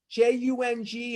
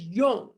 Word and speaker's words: Jung: care of Dr Yung ju n g is Yung pronounced Yung not Jung or young but Yung if he didn't have